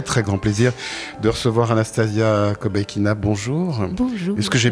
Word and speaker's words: Anastasia Kobekina: j'ai le très très grand plaisir de recevoir Anastasia kobekina bonjour bonjour est-ce que j'ai bien prononcé ou ça va oui parfait parfait donc